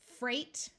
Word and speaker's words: freight: somebody who inherits something Freight notice the silent GH Freight refers to Goods